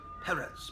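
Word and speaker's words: Pérez: there's uh george perez you got to put the accent on the second syllable perez perez i i don't know if i can do it um 30 or 33.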